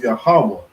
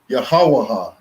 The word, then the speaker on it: Yahawah: not the lord's name his name is yahawa right i've heard some people call his name yahawaha they say yahawaha because they don't understand that connectors determine how you pronounce a word right so jeremiah 16